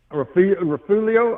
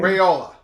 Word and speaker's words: Raiola: Is it Rafulio or the quarterback transfer or the young man at University of Nebraska? How do you pronounce his name? Raiola.